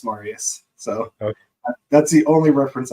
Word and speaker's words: Marius: Maurice. It's Marius.